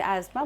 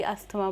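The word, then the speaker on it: asthma: एज़मा या अस्थमा, correct pronunciation is एज़मा बट हम normally अस्थमा बोलते हैं।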